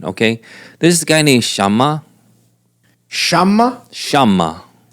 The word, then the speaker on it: Shammah: What spell is Shammah. S H A M M A H Shammah. If it was just one M, Shammah. Yeah. But if there's two M's, it's Shammah.